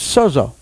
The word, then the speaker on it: sozo: But if you hear how it's pronounced, it's sozo. Can you say that? Sozo. S-O-Z-O.